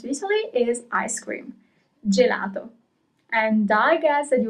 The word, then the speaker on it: gelato: Gelato.